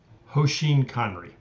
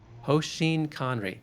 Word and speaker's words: hoshin kanri: This framework that you have learned from all that work at Toyota, how do you pronounce it properly? Hoseen Conry. Hoseen Conry.